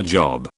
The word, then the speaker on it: Job: You go to your job, but Job in the Bible is a man who's heavily tormented by God.